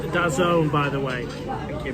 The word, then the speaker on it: DAZN: DAZN is pronounced Dazone, by the way.